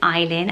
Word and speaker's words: Aylin: spelt with an A but it's not alien it is pronounced Aylin and it is Turkish